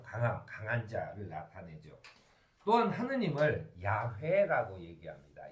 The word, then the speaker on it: 야훼: 또한 하느님을 야훼라고 얘기합니다. 이 야훼를 중국어 성경에 야훼라는 발음을 쓰려고 하다 보니까 여호와라고 써요. 여호와라고 하는 것을 아직도 쓰는 것은 좀 저는 시대에 맞지 않다고 생각합니다.